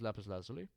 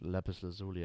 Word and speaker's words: lapis lazuli: I could even use lapis lazuli. Or lapis lazuli, I think it's called. Lapis lazuli is the pronunciation in German. It's lapis lazuli, I think, right? In English.